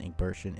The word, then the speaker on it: Egbertian: The teen Egbertian is soft like shh.